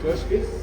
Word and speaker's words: 常識: Joshki?